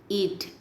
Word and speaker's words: eat: Let us eat. In eat there are two vowels. E, name of the vowel. A is silent.